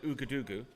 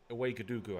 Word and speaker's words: Ouagadougou: If you live in Ouagadougou, which is the capital of Burkina Faso.